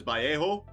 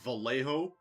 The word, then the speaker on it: Vallejo: Now, I know the correct pronunciation is Vallejo, but I'm going to call it as it's spelled out, Vallejo.